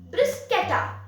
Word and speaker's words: bruschetta: with garlic and tomatoes since it's an italian dish let's pronounce it the way italians do brisketa so before we get